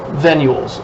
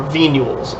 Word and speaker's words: venules: So after the exchange is happening, we have what's called venules or venules. I've heard them pronounced both ways.